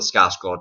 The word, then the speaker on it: Skarsgård: It's very, very different from Tim Curry's version, but I think Bill Skarsgård does. Is that how you pronounce it? Sorry, Skarsgård. No, it's not Skarsgård. That sounds dumb. It is Skarsgård, right?